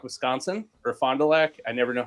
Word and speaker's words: Fond du Lac: They are located in Fond du Lac, Wisconsin, or Fond du Lac. I never know how to pronounce that. Fond du Lac.